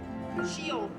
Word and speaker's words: Chillon: Lei pronuncia giusto? Chillon.